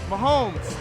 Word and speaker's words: Mahomes: Mahomes.